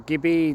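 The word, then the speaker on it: gibbet: great gonaby is a jibbit or gibby depends if you pronounce the t or not and uh this basically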